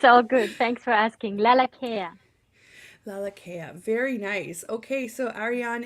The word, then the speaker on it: Lalakea: live radio it's all good thanks for asking laa care laa very nice okay so Aran is here with